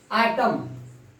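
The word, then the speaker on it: autumn: इसके बाद हम बताने जा रहे हैं कि एन का प्रोनाउंसिएशन जब भी एम के बाद एन आता है तो एन का प्रोनाउंसिएशन नहीं होता है। आटम, आटम, कालम, कालम, एन का प्रोनाउंसिएशन नहीं होता है।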